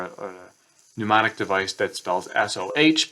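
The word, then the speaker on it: SOH: an acronym or a mnemonic device that spells S-O-H, pronounced so.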